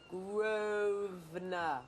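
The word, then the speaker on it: Grosvenor: You don't pronounce the S. Groves. No, Grovener.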